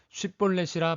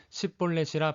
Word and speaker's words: 쉽볼렛: 그에게 이르기를 쉽볼렛이라 발음하라 하여 에브라임 사람이 그렇게 바로 말하지 못하고 십볼렛이라 발음하면 길르앗 사람이 곧 그를 잡아서 요단강 나루턱에서 죽였더라. 에브라임 사람들은 쉽이란 발음을 십으로 한 것입니다. 이것은 쌀을 살로 발음하는 것과 같습니다.